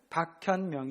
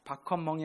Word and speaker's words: 박현명: 대답한 친구들 목사님이 이름 뭐에요 뭐 목사님 이름은 박현 명 이에요 뭐라구요 이거 바라요 바커 멍이 아니고 박현범 박현영 현명하며 뭔가 어 스마트 똑똑해